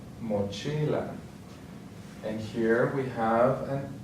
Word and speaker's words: mochila: The next one ends with a vowel, so then the accent is going to be on the second to last, mochila.